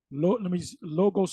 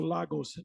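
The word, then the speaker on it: λόγος: Logos. Logos or Lagos is how it's pronounced.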